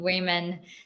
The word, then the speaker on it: women: So for the pronunciation, it's woman, the first one, the singular, and women Women. for the plural.